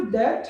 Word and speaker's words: debt: चलो पहली चीज, ये जो डेट है जिसमें बी का उच्चारण नहीं होता है, अगर आप उसका उच्चारण कर रहे हो, अगर वो वर्ड पढ़ते समय पर अगर आप कभी भी गलती से भी अगर आप डेट ऐसे कर रहे हो तो वो आप गलत कर रहे हो, उसमें बी नहीं उच्चारण होता, वे साइलेंट है, ठीक है।